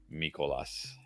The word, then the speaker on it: Mikolas: me a little bit for a pitcher like mikolas that's how you pronounce his name uh uh let's see okay